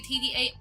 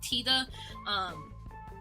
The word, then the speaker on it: TDA: A lot of people say TDA. It's actually pronounced TIDA.